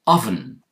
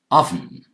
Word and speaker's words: oven: Here it's oven, more like that sound, more like the sound the letter U normally takes, oven.